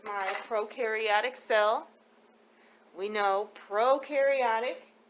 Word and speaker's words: prokaryotic: prokaryotic cell we know prokaryotic pro rhymes with no so it has no